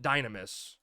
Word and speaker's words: Dynamis: I called it Dynamis, and I will continue to call it Dynamis, but they very clearly call it Dynamis.